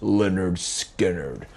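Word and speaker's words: Lynyrd Skynyrd: Leonard Skinnard. Debuted album. Pronounced Leonard Skard.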